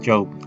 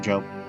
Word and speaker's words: Job: Job. There we go. The Book of Job. The Book of Job. It's spelled like Job, but you say it like Job.